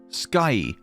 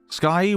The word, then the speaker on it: Skye: wait that's her name Skye Skye with an e at the end okay so it's pronounced sky but it just has an e at the end for a lettering sakes